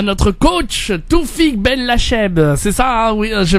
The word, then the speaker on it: Benlacheheb: Pour ceux qui veulent parler à notre coach, Toufik Ben Lacheb. C'est ça, hein, oui, je prononce bien. Cheb. On va le dire بالعربية Ben Lacheb.